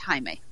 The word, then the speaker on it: Jaime: last oh god like almost 20 years there's Jaime Camil who was on Jane the virgin among other things slight note he is a Brazilian mix connector so it is pronounced Jaime okay there is gray Griffin who is an